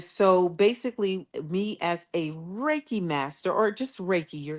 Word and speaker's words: Reiki: She did some type of Reiki. Yes, Reiki.